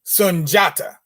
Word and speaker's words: Sundjata: sunjata the lion king now you see it spelled here on the cover of this beautifully illustrated book uh with an eye sundiata looks like but it really should be a j because it should be sanjata you know like i